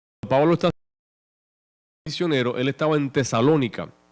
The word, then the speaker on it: Tesalónica: más nobles o tesalonica tesalonica tesalónica tiene acento en inglés tesalonica pues recibieron